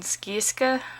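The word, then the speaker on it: Scieszka: And then Who Done It by John Skieska, or Sheska, I think that's how you say it. Rhymes with Fresca.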